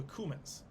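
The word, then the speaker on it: Cuman: kieving were the the cumins humans it's spelled c-u-m-a-n like the spice yeah uh they were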